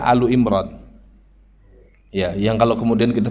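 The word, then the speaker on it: آل عمران: Ya, saya nggak tahu kenapa dibaca Ali di Indonesia. Karena secara i'rab mungkin harusnya bacanya Alu Imran.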